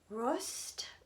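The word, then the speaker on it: Røst: is color 3880 um i think maybe it's pronounced rust r-o-e-s-t and it means rust but what it really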